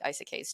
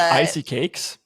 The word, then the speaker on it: isekai: I just like I like portal fantasies, which I guess I should like isekais too. But I love the icy cakes. How do you pronounce it?